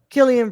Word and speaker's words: Cillian: could go either way Killian Brad it's K it says here in the phonetic pronunciation k-i-l-l-e-e-a-n yeah after 2000 after